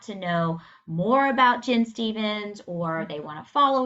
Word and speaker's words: Stephens: So, if people want to know more about Jen Stevens, or they want to follow you, or where can they find you?